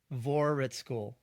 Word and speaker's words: Voraritskul: V cuz I have no idea how to pronounce his last name. Give us your last name, Micah. Vorhitschool.